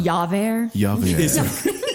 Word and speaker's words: Javert: It's No, pronounced no. Javert.